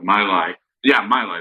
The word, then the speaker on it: Malay: They said that like out of the Communist Party of Malay, that was the name before Malaysia, but the Malay, that's a better way of pronouncing it.